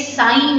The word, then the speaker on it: sin: करते हैं कोई बात नहीं, क्योंकि पता नहीं होता, बट हम आपको बता रहे हैं ये पाप नहीं है, ये साइन है, SIN साइन बी।